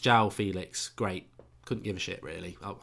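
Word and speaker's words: João Félix: Club the a theme Freeman says it's pronounced jowl Felix great couldn't give really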